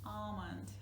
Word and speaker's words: almond: Almond. Okay, we don't pronounce letter L.